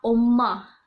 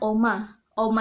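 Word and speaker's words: 엄마: omoni kayak gitu kan Nah pengucapannya itu bukan oma-oma itu kalau kita di sini Om Avita gitu kan Tapi kalau di Korea ada penekanan dm-nya jadi kayak om-om kayak gitu nanti aku bakal yatim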